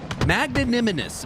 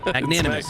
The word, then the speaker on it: magnanimous: 62 lead off the start now for magn magnimous magn magnimous I mean that's a that's a